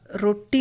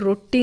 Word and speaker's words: ರೊಟ್ಟಿ: ಹೇಳೋದಕ್ಕೆ ಅವರು ಇಂಗ್ಲಿಷ್ನಲ್ಲಿ ಬರುವಾಗ ಆರೋ ಟಿ ಐ ರೋಟಿ ಅಂತ ಮಾಡ್ತಾರೆ ಈಗ ರೋಟಿ ಅಂತ ನಮ್ಮ ದಕ್ಷಿಣ ಭಾರತದಲ್ಲಿ ಯಾರು ರೋಟಿ ಅಂತ ಹೇಳೋದಿಲ್ಲ ಅದು ಉತ್ತರ ಭಾರತದ ಅಲ್ಲಿಯ ಒಂದು ಉಚ್ಚಾರಣೆ ಅದು ಹಾಗೆ ನಾನು ಅದಕ್ಕೆ ಅಲ್ಲಿ ನಾವು ಇಲ್ಲಿ ಹೇಳದೆ ಇರುವಾಗ ಆತರ ಮಾಡೋದು ತಪ್ಪು ಅಂತ ಹೇಳಿ ರೊಟ್ಟಿ ಅಂತ ಹೇಳಿ ಹಾಕಿದ್ದೇನೆ ಆರ್ಓ ಟಿಟಿಐ ಅಂತ ರೊಟ್ಟಿ ಅಂತ ಅಂತ ಹೇಳಿ ಬರುತ್ತೆ ಈತರ ಒಂದು